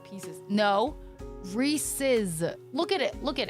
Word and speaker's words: Reese's: Well, one thing, Reese's versus Reese's. And I think Reese's is stupid because it's Reese. Apostrophe S is Reese's.